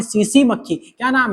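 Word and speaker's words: tsetse: इसका वाहक करती है एक मक्खी जिसका नाम है सीसी मक्खी। क्या नाम है? सीसी मक्खी है भाई साहब। यहां पर टी साइलेंट है। टी क्या है? साइलेंट है यहां पर।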